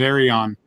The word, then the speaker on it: Arion: his company name, and from what I gathered, it was Arion. That's why I tend to call it Arion. So ERI space ON is how I try to phonetically spell it.